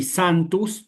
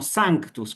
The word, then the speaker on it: sanctus: Es decir, si ustedes van al diccionario y buscan la palabra santa, no la van a encontrar, ni santus, no, la van a encontrar como sanctus, con una C, ¿sí?